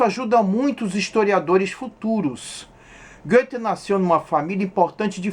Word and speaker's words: Goethe: Oi, vamos começar falando um pouco do Goethe, autor do Fausto. O OE, ou O com trema, alemão, pronuncia-se Ö, som inexistente no português.